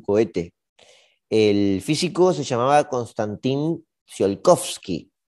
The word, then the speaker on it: Konstantin Tsiolkovsky: El físico se llamaba Konstantin Tsiolkovsky. Konstantin Tsiolkovsky. Sí, lo pronuncié bien, estoy bien.